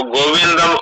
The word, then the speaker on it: गोविन्दं: गोविंदम नहीं बोलना है। गोविंद, हाँ, गोविंद मुक्त तुष्ण बबुआ। वैसे आपका उच्चारण अच्छा है,